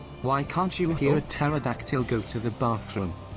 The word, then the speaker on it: pterodactyl: can't you hear a pterodactyl go to the bathroom because the p is silent yes hello topka how